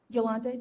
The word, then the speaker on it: Yolanda: these for me um actually my name is pronounced Yolanda Yolanda um I'd like to